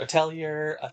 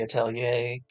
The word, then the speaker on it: Atelier: the Atelier game, the Atelier. I've heard it pronounced all different ways. I think in the Japanese you hear it as Atelier. I think the proper English pronunciation would be Atelier.